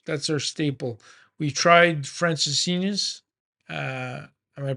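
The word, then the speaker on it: Francesinha: it's so close that's our staple we tried Francis Senus uh am I pronouncing it right you're pronouncing it completely right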